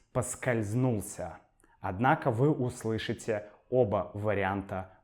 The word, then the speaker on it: поскользнулся: осторожно чтобы не подскользнуться Однако мы часто произносим это слово как подскользнуться подскользнуться я подскользнулся Но это неправильно Правильно говорить поскользнулся Однако вы услышите оба